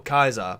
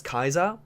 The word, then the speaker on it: Caesar: Yeah, so obviously an interesting thing here is how, like, every character within the game always pronounces Caesar as Kaiser, but obviously Arcade, being able to speak Latin, actually pronounced him as Caesar, because he knows actually how to pronounce the...